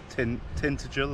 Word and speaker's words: Tintagel: Yep, Tintagel or Tintagel Castle.